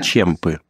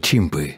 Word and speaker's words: чемпы: И даже немного смешно, что нам не устают повторять, что мы чемпы. Кто? Чемпы. Чемпионы. А, чемпионы. Да, некоторые из нас были лучшими в своем штате. Такие слова нужно произносить как следует. Мне послышалось «чимпы».